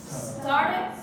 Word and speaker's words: started: Where is the stress? Started or started? Started. Okay, so it's on the first one.